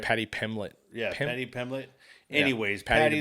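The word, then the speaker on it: Paddy Pimblett: And what we're talking about is Patty Pemberton, right? Did I say it right? Patty Pimlet.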